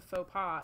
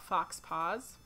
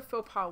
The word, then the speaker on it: faux pas: Yeah, I used to call it fox paws. And I did not realize they were the same thing. I knew what a faux pas was, but when I would see it read, I would still read it as fox paws.